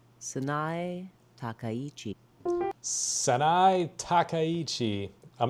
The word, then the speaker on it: Sanae Takaichi: Okay, you know why that this Japanese Prime Minister, Sane Takaichi, let's figure out, fellas, real quick, fellas and